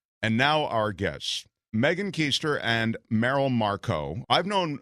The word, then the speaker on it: Koester: I was just raised to pronounce it Koester, and here we are now.